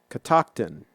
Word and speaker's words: Catoctin: the fruit and veggie place how do you pronounce Catoctin Catoctin yeah Catoctin Catoctin Mountain orchard yeah so there